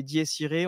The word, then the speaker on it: Dies Irae: en a parlé he normalement prononciation c'est ditiré on on se bloque